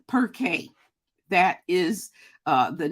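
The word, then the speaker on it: Pirkei: Pronounced Perkay.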